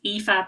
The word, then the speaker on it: Aoife: look at the description my name is IFA but it's um and I tell people to read it backwards in case they were kind of looking at it but it's spelled a-o-i-f-e and then my surname